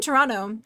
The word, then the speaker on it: Toronto: Yeah, we say it strange. We don't pronounce the the T's cuz we're little silly goosees.